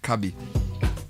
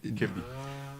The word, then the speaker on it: Kebi: Or is it Kebi? Take a bite. And so see, Kebi. You know, if you write this thing and don't tell me how it's pronounced, I'll just mention it Kabi. It's Kebi.